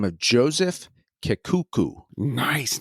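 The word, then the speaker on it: Kekuku: the name of Joseph Kuku nice name k okay I'm going to spell it k e ku ku phonetically works and spelled with a K which is always fun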